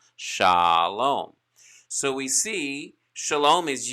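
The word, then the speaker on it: שלום: we look at shalom we see kamats commands and that is going to give us an ah sound so kamatsu is very important when it comes to understanding the long ah sound pronounced for the word shalom shalom so we see shalom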